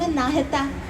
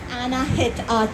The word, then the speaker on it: Anahita: Anahita to break it up for you. You can ask me my name again. I do not hold it against you if you mispronounce it. Um I do not go by.